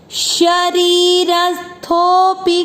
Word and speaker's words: शरीरस्थोपि: इसमें ये ध्यान रखना है कि यहाँ पर आप थो बोलते हैं तो थो को तो लंबा खींचना है, लेकिन पी की मात्रा बड़ी नहीं होनी चाहिए। वापस करते हैं श्लोक का उच्चारण।